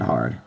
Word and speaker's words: は: don't worry about it it's really not that hard we are just repeating the same symbols over